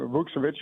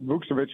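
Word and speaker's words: Vukčević: mispronounce it so I I think you said it correctly and and again um vukovich is is what we're going with vukovich is what we're going to say in the pregame and that's what we've been told so okay there go but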